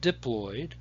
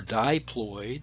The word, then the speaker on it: diploid: 46 and we didn't we call that diploid or diploid you can pronounce it either way and we denote that